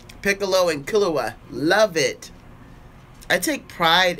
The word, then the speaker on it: Killua: Like, Piccolo and Killua, love it. I take pride in the fact that I say his name right. Some people are like, Kalula hula hula.